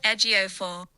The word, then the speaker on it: Ejiofor: I've got the pronunciation here for you. Great. It's from Google, so we'll see. Chiwetel Ejiofor.